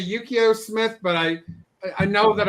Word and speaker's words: Yukio: The artist is, I always want to say Yukio Smith, but I know that I'm mispronouncing the gentleman's name, but he was nailed it, actually. What's that? I think you nailed it, actually. Yukio?